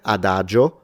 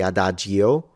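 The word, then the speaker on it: addio: that are silent like the i in Ado or we don't say adio uh J yeah there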